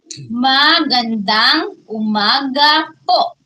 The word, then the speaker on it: magandang umaga po: magandang umaga po.